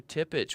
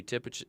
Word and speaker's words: Tippich: After that on stage two we have Matthew Tippich which we know Matthew Tippage and he'll be starting at 5:30.